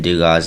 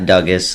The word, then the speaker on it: Dugas: And then Dugas, Dugas. It's not Dugas like a lot of people like to think. It's Dugas, Dylon Dugas.